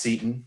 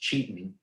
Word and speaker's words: Cetan: of our values um we thought it was pronounced seton we're still saying that it's pronounced seton but we found out after we founded the company and everything that it's actually pronounced cheating and then we realize it that didn't work